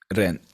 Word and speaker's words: Rennes: I think the S is silent. Rennes.